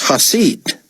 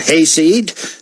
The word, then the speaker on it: Hasid: He put the emphasis on the first syllable. "It's Hasid," David said. "That should be easy enough to remember, Mr. Hayseed.